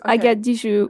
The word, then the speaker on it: Agathe Dijoud: the basis hello um you did it right actually it's I get duu so you don't pronounce the d at the end but even French people will get it wrong so you got it right fair enough that works